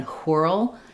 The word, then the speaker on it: whirl: So it would have been whirl. Now it's just whirl. Um the I R is the same as U R or E R. So it's the same as in the word were.